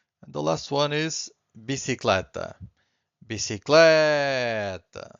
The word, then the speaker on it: bicicleta: So universal means universal, teste means test, and the last one is bicicleta. Bicicleta. So once again, I'm stressing the second to last, and bicicleta means bicycle.